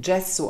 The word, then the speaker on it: gesso: Gesso should actually be pronounced Dschesso, because it comes from the Italian and translated it means: plaster of paris .